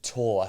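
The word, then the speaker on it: Thiaw: How do you say his name? Tor. Malik Tor, yeah.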